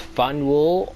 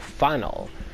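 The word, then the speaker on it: Faneuil: Don't let the French spelling confuse you. The name of this building is pronounced Funnel or Funnel. Getting it wrong is a good way to indicate you're not from around here, but it's also a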